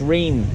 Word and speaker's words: Reims: people call it Reims the S is silent so it's rain re IMS but you